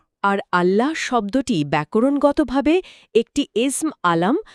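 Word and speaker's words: الله: তাজদের নিয়মে এটি আরবি ভাষার একমাত্র শব্দ যা তাফিম বা ভারী উচ্চারণ ধারণ করে।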